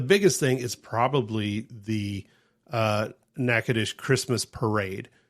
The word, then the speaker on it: Natchitoches: Not the way it sounds at all. Not the way it sounds. It's NATCHITOCHES.